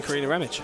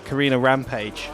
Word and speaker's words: Karina Ramage: Night from Inmost, featuring Karina Ramage. And a lot of people sometimes get her name wrong, and I think it's one of the best getting name wrongs ever when people call her Karina Rampage.